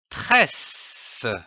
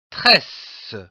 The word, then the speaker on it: tresse: suivi d'un double S, comme par exemple une tresse. Le mot tresse se divise en deux syllabes coupé entre les deux s. T r e s tress s e ce tresse une tresse.